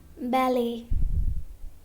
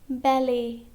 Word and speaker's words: ballet: Now letter T is also silent in some of the French words ending in et. Okay? For example, ballet, ballet, buffet, buffet, gourmet, gourmet.